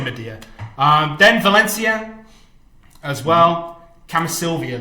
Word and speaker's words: Mediah: In Korean, it's Mediah, right? Mediah, yeah. So we'll say Mediah.